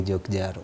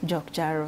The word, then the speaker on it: JokJaro: Ukisema moja ni J-O-K. Oh. Ukisema zote mbili ni JokJaro. JokJaro.